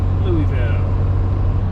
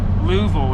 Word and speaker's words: Louisville: come back now mi upop Louisville or Louisville as the locals say a thank you oh